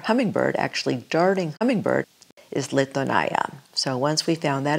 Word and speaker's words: Litonya: Our vineyard's named Litonaya. People sometimes have a hard time pronouncing it, but it's Litonaya.